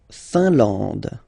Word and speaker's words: Finlande: La Finlande. IN here, nasal, un. AN, nasal, en. And then D, final E, not pronounced. La Finlande.